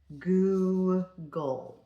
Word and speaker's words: Google: Goo and then you have that that syllable break right there. Goo-gle.